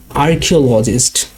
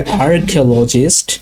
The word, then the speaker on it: archaeologists: এখানে উচ্চারণটা দুইভাবে হয়। যদি আপনারা আমেরিকান অ্যাকসেন্ট ফলো করেন তাহলে এর উচ্চারণ হবে আর্কিওলজিস্ট, বাট আপনারা যদি ব্রিটিশ অ্যাকসেন্ট ফলো করেন তাহলে হবে আর্কিওলজিস্ট। এখানে আরটা সাইলেন্ট থাকবে, আর্কিওলজিস্ট শুধু আ দিয়ে উচ্চারণটা হবে।